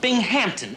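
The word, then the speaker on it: Binghampton: Thanks to Captain Binghamington here. He's our military governor. Captain Bing. No. Bingmpington. Bingon. No, no. Bing Hampton. Accent on the ham.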